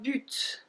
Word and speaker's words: but: Then we have un but. Un but. So it's not a but like in English, right?